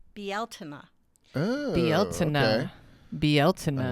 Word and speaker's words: Bealtaine: According to Irish witchcraft, it's pronounced Bealtaine.